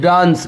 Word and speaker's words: dunce: और मैं आपको बताया कि पेट कटा हुआ ए है तो इसका मतलब ओ होता है डांस।